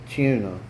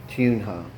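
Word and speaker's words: Tunja: then he had to return to Tuna. Tunha is the pronunciation.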